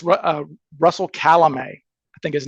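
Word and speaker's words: Calame: Is that the proper way to pronounce his name? Calamay, yes.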